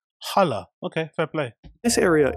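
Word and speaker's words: Halle: mainly speaking about this section there's also the Hal which is a much larger chamber that's on the back side of the building you pronounce it Hal I you pronounce it how Jesus Christ it's pronounced hala hala okay fair play this area is more publicly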